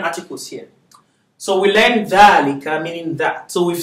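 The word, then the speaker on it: ذلك: So dhalika is pronounced dhalika, but it's not written with the alif.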